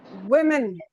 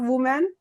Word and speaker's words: women: It's women. Women, not woman.